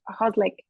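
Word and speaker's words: Hložek: Yeah, I can't pronounce it. Hoslik. Hoslik, yeah, Adam Hoslik.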